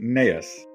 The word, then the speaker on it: Naos: And I am going to correct you on the name again of course because it's because it's you pronounce it nas but it's a really yes because it's a Irish name.